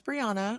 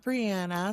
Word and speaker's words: Briana: Well, my name is Briana, not Brianna. So, I always love to tell you my name does not rhyme with banana.